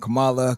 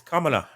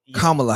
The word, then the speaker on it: Kamala: name all different things i heard kamala camilla camille what is it it's kamala kamala harris like kamala okay kamala harris she um the first indian indian name kamala yeah karma yeah so